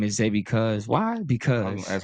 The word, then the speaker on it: Zay Bcuz: So, man, name is Zay Bcuz. Why? Because That's how you pronounce it.